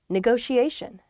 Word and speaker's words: negotiation: is negotiation negotiation yeah there are two t's in this but neither t is a hard t they're both very soft that sound because they're followed by the i and another vowel that she a negotiation